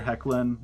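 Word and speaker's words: Hoechlin: to start things off Tyler heckin and yes that's actually how you say his name but he was razor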